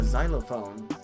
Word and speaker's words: xylophone: Uh, xylophone. That's an instrument. Starts off with an X. Has the pronunciation of a Z.